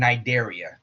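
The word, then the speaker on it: Cnidaria: The C is silent in both of those words. Tenafha and Nidaria.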